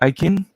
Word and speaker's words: Aquin: And how do you pronounce it? Ican?